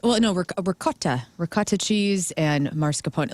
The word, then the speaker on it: mascarpone: Number 2 is mascarpone.